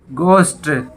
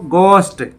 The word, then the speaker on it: ghost: इको होती है गूंज, तो यहाँ भी एच साइलेंट होता है। GHOST, घोस्ट। घोस्ट होता है भूत, आपने घोस्ट ही बोला होगा इसको, और बोला जाता है इसको गोस्ट।